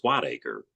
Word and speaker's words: Whitaker: their last name is Whitaker but in the Old English it's pronounced white acre so we thought that